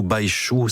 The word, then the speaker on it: Baixu: Voici donc cette formation Compagnia avec Missirlou Baïchou. Ça s'écrit B-A-I-X-U.